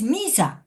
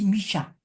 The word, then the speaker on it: Missa: Y es Missa, que su pronunciación no es misa, es misha.